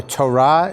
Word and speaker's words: Torah: Judaism around the Torah scroll that Hebrew word Torah or Torah is the proper pronunciation means learning it is often called The